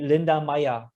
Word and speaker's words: Linda Meyer: Linda Meyer? Yeah, the German pronunciation would be Linda Meyer.